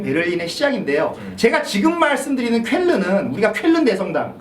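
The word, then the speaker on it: Cölln: 제가 지금 말씀드리는 쾰른은 우리가 쾰른 대성당 그 쾰른이 아닙니다. 이것은 예, 약간 스펠링이 다른데요. 발음은 비슷한데 그건 이제 약간 쾌연, 약간 그런 발음이고 요거는 이제 쾰른 그런 발음인데 다른 곳이 있구나.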